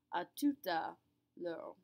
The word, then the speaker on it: à tout à l'heure: You'll also notice I'm not pronouncing the H. H's at the beginnings of a word will never, ever, ever be pronounced in French. So we pronounce this just like it's not there.